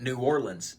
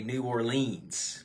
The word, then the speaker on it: New Orleans: on the show thread New Orleans is another one yes a lot of people say New Orleans but it's New Orleans let's see he's got